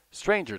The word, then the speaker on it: stranger: Stranger does not rhyme with anger, neither does devour with clangor.